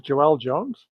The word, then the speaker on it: Joëlle Jones: Is Joëlle Jones?